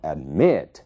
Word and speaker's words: admit: dependem da sílaba tônica observem o verbo admit a sílaba tônica é o me né A primeira sílaba a é uma sílaba mais fraca então admit é ali que está a sílaba tônica ele dobra se